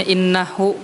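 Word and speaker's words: إنه: Contohnya innahu kana bi'ibadihi khabiran basira. Jadi pada kata innahu-nya tuh haknya tuh dihapus atau dibuang. Jadi bacanya innah.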